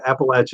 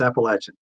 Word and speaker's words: Appalachia: So if you throw an apple at you, Appalachia is the way natives speak it. Hey, there you go. Yeah. Throw an apple at you. So if I threw an apple at you, that's how they say it. It's Appalachian. If it's Appalachia, then we know they're from like New York or something.